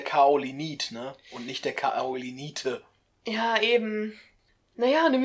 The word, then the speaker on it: Kaolinite: Also ich glaube, das L stimmt wirklich. Also das war, glaube ich, halt damals im Deutschen falsch. Aber es müsste halt Kaolinite heißen.